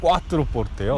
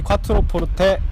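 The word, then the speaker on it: Quattroporte: 아, 마세라티 꽈트로 포르테요. 네. 콰보다는 왠지 꽈가 더 멋있지 않아요? 이태리어스럽고. 아, 이탈리안 발음인가요? 아, 그렇죠. 네, 정확히는 마세라티 꽈트로 포르테 S Q4 그라누소 모델인데요.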